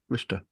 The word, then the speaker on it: Worcester: Yeah, Worcester. Worcester. That's the correct pronunciation, isn't it?